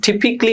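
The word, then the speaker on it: typically: কোনো ইংরেজি শব্দের শেষে ডাবল এল ওয়াই থাকলে, হ্যাঁ, ডাবল এল ওয়াই থাকলে সেখানে এই যে হচ্ছে তোমার প্রথম যে এলটা, এই এল এর উচ্চারণটা হয় না। আর এল এর আগে যদি এ থাকে, ওই এর উচ্চারণ হয় না। যেমন এখানে এ আর এল এর কোনো উচ্চারণ নেই।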